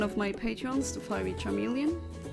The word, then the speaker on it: Charmeleon: my patreons the FY Charmeleon which I always used to pronounce as careleon no idea why I guess I just read it as like a chameleon because to me the